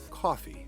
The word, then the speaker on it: Ko-fi: an easy and secure platform called coffee that's spelled ko-fi so that you can